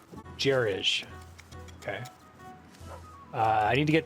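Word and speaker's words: gerege: How is that word pronounced? Jerij.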